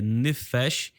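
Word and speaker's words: נפש: para o hebreu aqui aparece a palavra a pronúncia dela é nefes e ela significa alma vida criatura pessoa e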